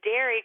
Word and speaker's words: Dari: This is Derry calling from Red Lodge, Montana. Derry? Derry, yep. How do you spell that?